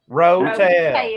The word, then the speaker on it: Rotel: Is that pronounced rotail? Rotel.